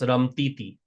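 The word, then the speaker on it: રમતી હતી: Ramti hati is pronounced ramtiti.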